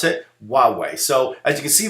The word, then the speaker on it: Huawei: Okay, this is how you pronounce it, Huawei.